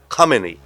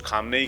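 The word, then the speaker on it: Khamenei: यस, वो खोमेनी थे, ये खामेनी है। अच्छा, ये बड़ा इंटरेस्टिंग फैक्ट है, क्योंकि लोग अपने हिसाब से इनका उच्चारण करते हैं, कुछ खुमैनी कहते हैं, हाँ, कुछ खामनेई कहते हैं।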